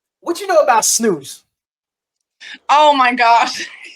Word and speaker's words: snus: What you know about snooze?